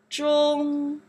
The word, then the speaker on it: 中: Zhong.